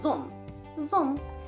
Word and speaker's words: ظن: And of course it's the va, but we don't really pronounce it. We use it as a heavy z. So it's ظن.